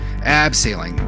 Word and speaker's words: abseiling: Abseiling. It sounds cooler. Say it properly. Abseiling, got it.